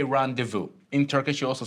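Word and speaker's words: rendezvous: So, um, this is this is a common thing in English whenever a word that has that that comes from French originally, we use the French pronunciation.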